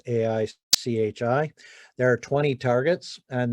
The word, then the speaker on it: Aichi: are known as or at least i pronounce them aichi targets it's aichi there are 20 targets